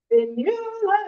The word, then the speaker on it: Fionnghula: Fionnghula is how it's pronounced, and I'll teach a way for you to tell. Fin like a fin that's on a fish. You like someone that I talk to.